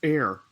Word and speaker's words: heir: with Elon, with the hair of the Musk brand, oh, the hair of the Musk brand. Hair? Yeah. You don't say hair, it's air.